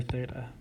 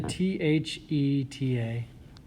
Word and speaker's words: theta: by this symbol which is the greek letter theta it's pronounced theta t h e t a and it's like a circle with a line